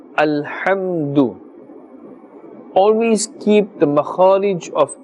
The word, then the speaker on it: الحمد: The ha, the makharaj is from the center of the throat. Alhamdu. Do not say alhamdu. Alhamdu, that is a different letter. Ha and ha. Ha is pronounced with a more heavy tone, and this is pronounced with a thinner tone.